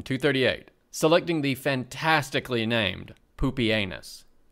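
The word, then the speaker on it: Pupienus: selecting the fantastically named poopie anus pronounced exactly like you are worried it is and baldness as co-emperors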